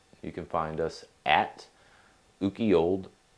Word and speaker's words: Ukiyold West: You can find us at Ukiyold_West. The Y is silent, and there will be a link in the show notes.